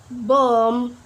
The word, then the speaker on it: bomb: For example, like climb, bomb, dumb, plumber. Yep, we not pronounce the letter B, right? Because before B we have letter M.